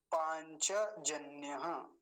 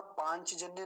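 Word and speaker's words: पाञ्चजन्य: हम क्या बोलते हैं पांचजन्य चक को आधा कर देते हैं हिंदी में बोलते समय लेकिन यहां पांच जन्य नहीं कहेंगे क्या बोलेंगे पांच पांच च का पर ज्यादा ध्यान रखेंगे पांच जन्य अगला शब्द देखिए पुरोहित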